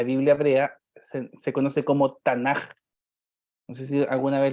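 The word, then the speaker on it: תנך: Pasa que cuando esa última letra tiene un puntito al medio, se conoce como Dagesh, ese punto, se pronuncia como una K de kilo. Pero si se la sacamos, se pronuncia como una J de José. Es por esa razón que se dice y se lee Tanaj, pero en la palabra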